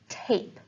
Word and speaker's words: tape: t is the same the middle vowel sound in tap is a short ah sound and in tape t a it's the long a sound and then the is